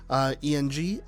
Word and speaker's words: Eng: They're also losing, I believe it's pronounced Daniel Eng, E-N-G, Eng.